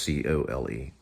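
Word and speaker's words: Coal: Yes, it's spelled C-O-A-L. I thought it was C-O-L-E. Nope, C-O-A-L.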